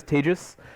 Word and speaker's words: Tejas: My name is Tejas. That's pronounced like contagious.